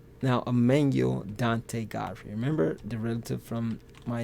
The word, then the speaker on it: Godfrey: Now, God free, or God's free to do whatever, as a boy's name is pronounced Godfrey, as the old German